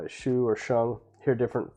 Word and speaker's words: sheng: But as far as sheng, I think sheng rhymes with hung. I think sheng is the best way to do it.